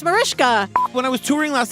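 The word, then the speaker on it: Mariska: me how to say to explain Marishka harate Natalie had to educate me cuz I thought it was like Marisa I thought it was Marisa hagard this is why we don't read the YouTube comments or whatever the that person was wrong whoever said that it's Marishka when I was touring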